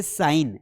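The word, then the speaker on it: sign: तो साइन तो यहां पर भी हम जी को प्रोनाउंस नहीं करेंगे।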